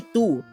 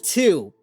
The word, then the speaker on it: tu: Like, he can't say tu. Tu madre. Tu. He says two.